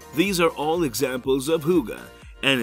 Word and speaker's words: hygge: Enjoying the simple things in life is so important to the Danes that they have a special word for it, hygge. Pronounced hygge, the word defies direct translation.